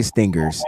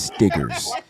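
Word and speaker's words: Stiggers: select quantz Stinger defensive back that doesn't say Stingers it says stigers it rhymes with hey remember that football player stop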